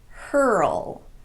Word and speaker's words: hurl: Some other examples would be pearl, whirl, hurl, swirl, and twirl. Every one of these is technically a single syllable word, but they're pronounced as if they have two syllables.